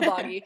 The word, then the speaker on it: Boggy: If you're local to Utah, Boogie wouldn't be right. It's not Boogie. Uncle Boggy.